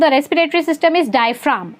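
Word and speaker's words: diaphragm: Okay, now the last part of the respiratory system is डायफ्राम. इसको डायफ्रागम नहीं पढ़ते हैं, इसको डायफ्राम बोलते हैं. जी इज साइलेंट.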